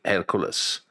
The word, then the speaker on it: Hercules: I pronounce it Hercules.